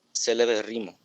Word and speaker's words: celebérrimo: con terminaciones en ísimo, belísimo, errimo, gravísimo, amabilísimo, celebérrimo. A ver. Érrimo. Palabra esdrújula. Érrimo. Entonces, ¿cómo va a ser? Celebérrimo. ¿Sí? Celebérrimo.